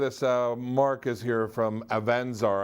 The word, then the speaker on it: Avanzar: Mark is here from Avanzar. I said it wrong earlier on. I said Avanzar. And so, you know, what do I know? The accent they grabbed was on the wrong syllable, right?